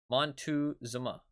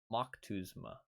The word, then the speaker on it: Moctezuma: Oh no, that's Moctezuma. Not Mont. It was an Aztec leader. That's Moctezuma.